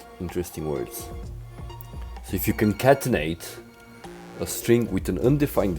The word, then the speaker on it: concatenate: If you for Christ's sake, how do you pronounce this word? Why have I never... What? Concatenate. Concatenate.